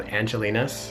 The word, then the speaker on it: Angel-in-us: We ended up going to a cafe that's popular in Korea called Angelina's, but it's spelled like Angel in Us Cafe.